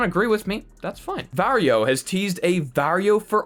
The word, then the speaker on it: Varjo: with me that's fine vario has teased a vario for all message ahead of the new reveal and i was told that that's how i'm supposed to pronounce it ahead of an announcement